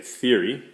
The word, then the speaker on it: theory: thi Ric your wreath stress on the first syllable be big thing to